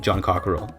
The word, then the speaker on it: Jean Coquerel: a French company, so I always pronounce it like it's a French name, but it's an English name. But the I guess should be Société Anonyme John Cockerell, which sounds really fucking stupid.